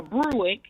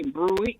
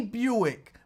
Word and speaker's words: Buick: If you teach him the right way to say Buick, I'm pretty sure he won't say Bruick anymore.